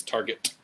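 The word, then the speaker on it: Targett: It's Target. You gotta enunciate that. No, Target. Target. I'm an American. It's Target. Target. At least Target. enunciate the double T as a T. Target. Yeah. Target.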